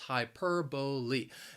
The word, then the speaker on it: hyperbole: four of those syllables hyperbole that b-o-l-e is pronounced boli for example if i